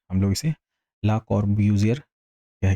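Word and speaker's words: Le Corbusier: हम लोग अपने लिए या आप अपने हिसाब से जो भी प्रोनाउंस करना चाहें कर सकते हैं। हम लोग इसे ला कॉर्ब्यूज़ियर कह के अपना काम चला लेंगे, ठीक है?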